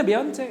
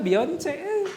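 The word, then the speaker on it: Beyoncé: Saya baru tahu namanya Beyonce, itu memang dibacanya Beyonce itu. Tulisannya Beyonce, penyanyi itu. Mereka kirain saya dulu namanya Beyonce itu. Ternyata Beyonce namanya.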